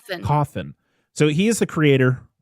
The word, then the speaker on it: Cawthon: Cawthon.